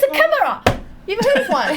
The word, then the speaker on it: chimera: Cambridge YouTube to make sure I wouldn't get teased, and it's chimera.